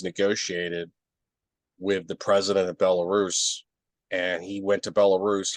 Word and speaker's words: Belarus: anyway I sometimes I used to sometimes say Bella Russia but it's oh pronounce Belarus but anyway uh so you know and then